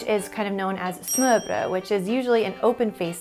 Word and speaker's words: smørrebrød: To pronounce smørrebrød, you want to say smør. It literally means butter, bread, or buttered bread.